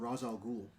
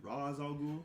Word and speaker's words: Ra's al Ghul: Take Vandal Savage back, and T'Challa has to take on the likes of Ra's al Ghul.